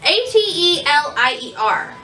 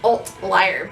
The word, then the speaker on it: Atelier: It's Atelier. It's, I want to call it like Atleir, but there's no L.